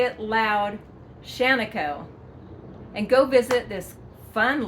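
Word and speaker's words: Shaniko: And it is not called Shanako. It is not called Shanako. It is pronounced Shanako. Yes, you heard it here, so say it proudly, say it loud, Shanako.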